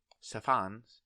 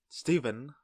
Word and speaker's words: Stefan: We have Stefan, or Steven, as I cannot pronounce his name because of my Vietnamese accent. I keep calling him Steven with a V instead of a PH.